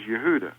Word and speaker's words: Yehuda: Jacob Jacob's son Yehuda they call him Judah well his name wasn't Judah his name was Yehuda it's spelled yod he